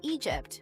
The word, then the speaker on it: EDGP: By 13, she had switched her focus from singing to rapping and formed a duo called EDGP, pronounced Egypt, with her friend Jennifer Pardue.